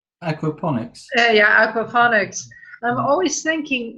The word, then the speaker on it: aquaponics: And also what you say, Lee, about food being the same, that's a question I always ask about agroponics. Am I saying it correctly? Aquaponics.